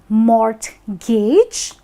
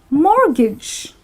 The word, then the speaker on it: mortgage: It is not Mor-gage, because you know it's not like Mort, the guy is trying to gauge something. It actually happens to be Mor-gage, wherein the T is silent.